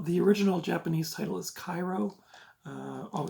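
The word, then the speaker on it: 回路: it is the uh Japanese J horror Thriller that inspired the remake of pulse yeah uh also the original Japanese title is Cairo uh oh it's right there you can see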